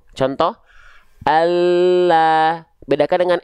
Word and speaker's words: Allah: Maka ketika kita lafalkan, bentuk pelafalannya, lidah yang menyentuh ke langit-langit akan terlihat lebih penuh. Contoh, Allah.